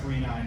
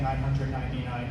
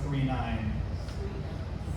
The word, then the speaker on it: 999: which is Galaxy Express 39, which, as I emphasized before, I know it looks like 999. It's pronounced 39.